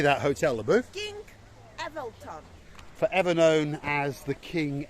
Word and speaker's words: Evelthon: It's not the King Elephant. How do you say that, Hotel Leboeuf? King Evelthon.